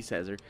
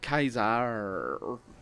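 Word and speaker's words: Caesar: and say aos wait that wouldn't be cesar away kaizad of course i pronounce it properly they don't so i would need to say away kaiser anyway i'm not going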